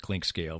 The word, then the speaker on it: Clinkscale: she made for me my name is spelled clink scale very simply clink and then scale like a you step on to weigh yourself and she spelled my